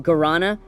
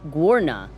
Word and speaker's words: guarana: She pronounced guarana wrong. She said, "Guorna." Like it's a heavy metal band.